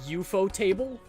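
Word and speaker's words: ufotable: Yeah, but it's kind of like uh you know how Ufootable is technically supposed to be pronounced EUO table and everyone collectively went that's the dumbest thing I've ever heard.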